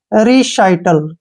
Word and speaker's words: recital: RE का जो उच्चारण है वो हम री करते हैं, ठीक है, और CI का उच्चारण हम यहाँ पे शाई करेंगे, क्या करेंगे? शाई, ठीक है, और TA का उच्चारण टे होगा और L का ले। रिसाइटल, क्या पढ़ेंगे इसको?